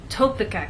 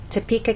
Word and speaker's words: Topeka: you can see that we stress the middle part of the word Topeka and here the